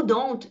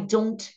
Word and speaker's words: don't: com relação a pronúncia o don't e dançant fica melhor até se vocês não falarem o t tá principalmente aqui em negativas né então por exemplo não vou falar I don't vai ficar I don't